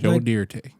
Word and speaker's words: Joe Dante: Joe Dante June 8th Jo de that's how you say his name oh about to say